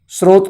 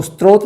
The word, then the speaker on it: स्रोत: प्रमुख सैस नहीं बोलेंगे स्रोत को स्त्रोत नहीं बोलेंगे तो कि यह जो